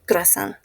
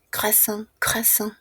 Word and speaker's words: croissant: Croasan muy similar a la pronuncia en fran. Croissant.